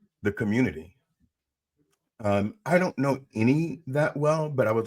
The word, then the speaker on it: Eny: Because I fell in love with it, because my show's called UBU, and his show is called Any is spelled ENY.